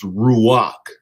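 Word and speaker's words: רוּחַ: So the tag number was 7307 in the Strong's Hebrew called the dictionary and it's pronounced ruach.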